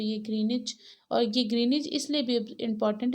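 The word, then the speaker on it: Greenwich: through ग्रीनिच यहां पर ग्रीन इस में डब्लू साइलेंट है इसलिए इसका प्रनंसीएशन ग्रीनिच है वह ब्रिटिश रॉयल ऑब्जरवेटरी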